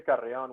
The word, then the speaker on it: Carrion: It's actually Carrion with the strong R.